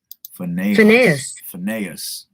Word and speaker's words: Phinehas: Phinehas. All right, Phinehas. Won't forget that no more. All right, so it goes back. Then stood up Phinehas and executed judgment, and so the plague was